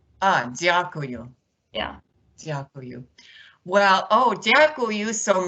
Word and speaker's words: Дякую: Дякую. Дякую.